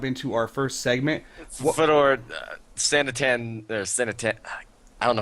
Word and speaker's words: Sanatana: So, the A that everyone ignores is actually the last A, not actually the... You ignore the last A in it.